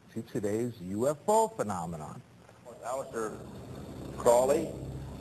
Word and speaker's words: Crowley: Aleister Crowley, he likes to have his name pronounced Crowley to rhyme with holy.